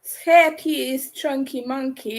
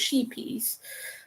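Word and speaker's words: Scheepjes: This is um chunky monkey. It's hard to pronounce for me, but that's how it is pronounced. It's not pronounced sheepies.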